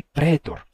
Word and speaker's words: praetor: que ele fez aqui ele tá representando a pronúncia rústica o sotaque rústico o sotaque do interior em que não se dizia cilius nem pritor e sim keus e pretor certo era um sotaque em que já tinha a gente já tinha essa pronúncia monot não mais o ditongo ai mas sim um simples e não mais né praetor mais pretor essa piada só faz